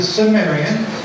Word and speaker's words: Cimmerians: And it becomes the Cimmerians, which I pronounce with a soft C as the Cimmerians.